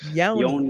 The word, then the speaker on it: Nyoni: Yoni. The Yoni, N is yes. silent. Yes. Okay, so the end is silent.